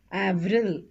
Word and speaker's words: Avril: Avril, we pronounce the L here, even though they are consonants.